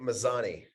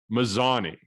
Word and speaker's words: Mazany: i still don't know how exactly you like to pronounce it so let's solve that once and for all right now make it mazani mazzani okay all right i think